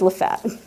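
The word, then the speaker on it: LaFayette: a ravine in near Lefett, Georgia. It's spelled Lfette, but they will correct you. It is Lefett.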